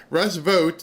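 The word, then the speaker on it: Russ Vought: So if you heard almost I think the last question or maybe second to last question where she actually said Russ vote now we know how to say his name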